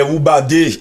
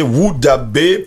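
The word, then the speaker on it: Wodaabe: Les Woubadé, il faut le préciser, Woudabé, Peul, Woudabé, singulier, Bodado,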